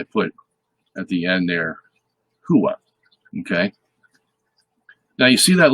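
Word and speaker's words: הוא: Okay, so the way you would pronounce he, the English word he in Hebrew is hua. Okay, hua. And there you have it. I put at the end there, hua.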